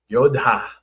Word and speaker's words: yodha: You forgot though, there's an H. It's Yodha. Yodha. That's how you would pronounce it. Yodha. You got a little aspirated H.